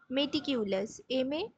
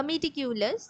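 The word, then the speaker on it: meticulous: বা মেটিকিউলাস বলা যায়, হ্যাঁ, মেটিকিউলাস, বা মেটিকিউলাস, যে যেরকম উচ্চারণ করো।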